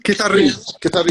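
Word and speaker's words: kitarrin: Kitarin. We pronounce it Kitarin, which is in Maltese the diminutive of a guitar.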